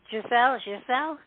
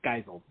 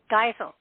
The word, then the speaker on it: Geisel: And the first name, Giselle? What? Geisel. It's Geisel. Geisel. Oh, Geisel. I made it French. Yeah, no, it's very German.